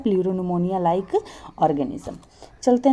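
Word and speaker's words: pneumonia: है आपका प्यार और निमोनिया लाइक और विसंगति से player media player pro निमोनिया like और गणेशम पी0 पी0 जिसमें आप जानते कि साइलेंट होता है इसलिए आपको लग रहा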